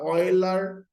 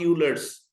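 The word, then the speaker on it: Euler: ई for exponential, and which is called the ऑयलर, नॉट यूलर्स। हाँ, pronunciation होगा नॉट यूलर्स, इट इज ऑयलर्स constant.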